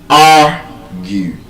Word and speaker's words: argue: When you pronounce the word argue, you would see that the stress is on the first syllable. argue Whereas I've just told